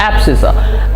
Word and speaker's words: abscissa: It's pronounced as abscissa.